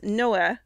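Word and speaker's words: Noël: it is called newell in burgundy the people pronounce noah for noel a priest at dijon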